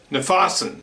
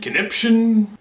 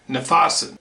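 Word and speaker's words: Knyphausen: yourself and give a shot um the other pronunciation is the german commander nafasan now that name has been slaughtered right and left is it kniphozone conniption i used to call him conniption just because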